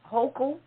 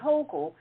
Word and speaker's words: Hochul: And the Lieutenant Governor, Kathy Hochul, I believe that's how she pronounces it, Kathy Hochul is the next in line, and she will end up being the first female governor of New York.